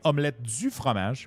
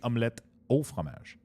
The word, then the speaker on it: omelette au fromage: Actually, that's kind of cool because most people remember Dexter saying omelette du fromage, which is actually not correct. It is actually omelette au fromage. It's not du, but because Dexter said it wrong, now everybody says it wrong.